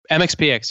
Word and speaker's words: MxPx: Is that how you guys pronounce it? MxPx, yeah.